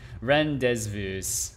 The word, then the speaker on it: rendezvous: in english what's rendezvous you don't pronounce the z the z is silence right rendezvous is filled with a rendezvous yeah sorry i got the z in the wrong position ren rendezvous in the same way